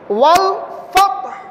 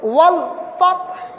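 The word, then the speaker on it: والفتح: ওয়াল ফাতহ, ওয়াল ফাতহ, এখানে হাটা জজম হয়ে যাবে, ফ্রেশ থাকবে না। উচ্চারিত করার উচ্চারণ যখন আমরা করব তখন একটু করে হা উচ্চারিত হবে, ওয়াল ফাতহ।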